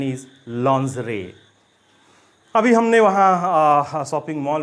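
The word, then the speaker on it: lingerie: लिंगरी, लिंगरी। Again it इज़ a wrong pronunciation, ये गलत pronunciation है। पहले मैं बता दूं कि ये होता क्या है। ये फीमेल अंडरगारमेंट्स या नाइट वेयर को कहा जाता है, और इस वर्ड की सही प्रोनाउंसिएशन है लॉन्जरे, लॉन्जरे। कंबाइन करने पे ये वर्ड बनता है लॉन्जरे, लॉन्जरे। इसका मतलब महिलाओं के नाइट वेयर या अंडरगारमेंट्स को कहा जाता है। सो इट इज़ लॉन्जरे, नॉट लिंगरी।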